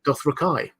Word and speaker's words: Dothraki: about the Dothraki, and he calls them Dothraki. That's how he pronounces it, which completely just about everyone went, what?